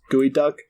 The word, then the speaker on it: geoduck: Like, it looks like Geoduck, but it's pronounced Gooey Duck.